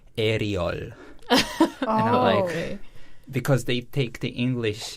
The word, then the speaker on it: Ariel: My Hebrew pronunciation is Ariel. Ariel. And in English, it's Ariel. And I tend to, let's say, less like it. But in Korean, it works pretty great. It's Ariel.